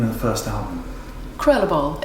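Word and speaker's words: Krulle Bol: Krullerball is what I call it. Krullerball. But I'm sure someone who spoke good Flemish would pronounce it better, yeah.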